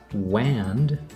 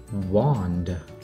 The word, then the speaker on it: wand: ending changes its sound this is not wand this becomes wand wand like a magic wand and even though the